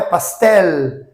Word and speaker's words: pastel: O som, então, é pastel, pastel, e não com o som de U.